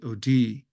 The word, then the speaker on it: O'Die: book is pronounced For the Love of Maggie OD she pronounces it like the river d uh but